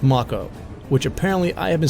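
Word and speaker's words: Mako: on the sector one Macha reactor yes it's pronounced maca which apparently I have been saying incorrectly for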